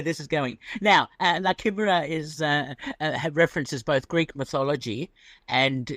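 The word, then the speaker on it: La Chimera: Like Chimaera, is it? It's Chimaera, okay. Is that how you pronounce it? That's the Italian pronunciation, yeah.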